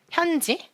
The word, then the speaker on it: 현지: 제 영어 이름이 네, 이렇게 쓰거든요. 현지. 근데 이거를 외국인들이 봤을 때는 정확히 현지라고 읽지 않잖아요.